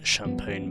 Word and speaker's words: champagne: model, as I expected it to be, in Champagne Gold, even though realistically it's pronounced champagne, but Anyways, this is our prize car, a Lancer Evo 7 GSR in champagne gold.